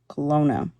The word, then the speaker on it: Kelowna: That's how it's pronounced. Thank you. Kelowna.